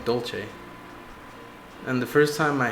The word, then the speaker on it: Dylas: According to the wiki, it's pronounced Dolce.